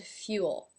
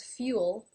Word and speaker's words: fuel: now this is interesting because fuel ends nan Elle and it is related to the blog entry i just did on the L sound the light and the dark in that blog I said that when it is at the end of a word the L takes on a dark quality in which is preceded by a vowel all all before the